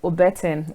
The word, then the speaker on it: Obeten: evening hi good evening so I got the pronunciation correct okay so it's you got the part correctly Ortin actually yes how do you do today very